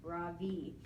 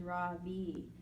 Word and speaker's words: Ravi: Mrs. Beam has been calling him Ravi, but when he introduced him earlier, I'm pretty sure he said his name was Ravi, with the accent on the second syllable.